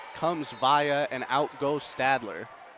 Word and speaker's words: Stadler: Viking point 16-12 as in comes Via and out goes Stadler. Stalder? Stadler. I said it right.